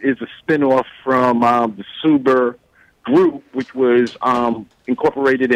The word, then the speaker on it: Suber: super financial group and your name being mr suber it am i pronouncing that correct yes okay i take it